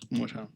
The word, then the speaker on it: Gautama: Gautama.